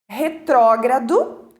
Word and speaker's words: retrógrado: Retrógrado, erradamente pronunciado por retrógrado, esquecem do R lá no G e no A.